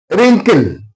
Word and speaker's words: wrinkle: Wrinkle. Here W is followed by R. That's why W is silent.